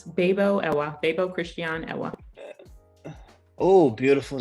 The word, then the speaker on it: Bebuo: entrepreneurs other successful entrepreneurs and here we have bibo I I mispronounced your name no worries no one no worries it's babo babo Christian Ella oh beautiful name beautiful name